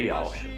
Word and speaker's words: Yausha: e que o nome do seu filho é Ialcha.